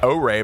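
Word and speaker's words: Ary: first look at arrey arrey by the way is how it's pronounced if you were wondering uh really just magnificent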